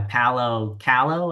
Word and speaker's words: Paulo Coelho: everybody if they've never read The Alchemist, by Paulo Coelho, I think is how you pronounce his name.